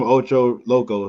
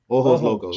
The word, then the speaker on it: Ojos Locos: Stay away from Ocho Locos. That's what they're saying. Ojo Locos. How you say it? Ojos. Ojos. Ojos Locos. Yep.